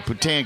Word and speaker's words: poutine: In Seattle, they were asking, how do you pronounce it? Poutine or Poutin? I was like, well, Poutine, because Poutin means slut in that French, you know.